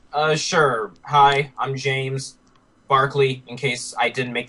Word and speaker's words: Barkley: way to pronounce it b a r k l e y that spells Barkley it sounds like Barkley it is Barkley I I should stop